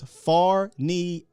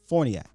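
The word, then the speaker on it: Farniok: you are incorrect sir it's far knee a.c.k john machoda just put out the dallas cowboys official pronunciation so it's matt forniak a ck cuz y'all be loud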